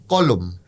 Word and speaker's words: কলম: কলম। আপনি কিন্তু ল এর সঙ্গে একটি ওকার আনছেন।